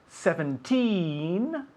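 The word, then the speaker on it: seventeen: you'll notice that 17 the the the emphasis is on the second syllable where 70 the emphasis is on the first syllable so for example 13 30.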